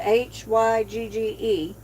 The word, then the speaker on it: Hygge: Thank you for dropping Huga's Homestead. And that's how y'all pronounce it, is Huga, Hygge. It doesn't look like it, but that's how you pronounce it.